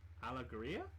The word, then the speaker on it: Alegria: Alegria? Alegia. Alegria? Alegria. What is it? Ale. Yeah. Gria. Alegria. I mean, in Spanish it would be alegría, like that.